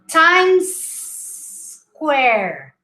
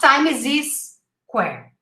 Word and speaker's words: Times Square: times square times square i'd rather you pronounced this word like this times and then you say where okay because that way you don't say time is this where you're adding an extra syllable there we say times square not time is this square okay times squared times